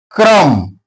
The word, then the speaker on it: crumb: Each when B comes after the letter M, B remains silent. For example, crumb. B is not pronounced here.